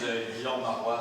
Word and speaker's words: Guillaume Marois: Yeah, so my name is Guillaume Marois, so it's the French form of William. So you don't pronounce the 2L, and AU is O, and you don't pronounce the So I am from Shanghai University.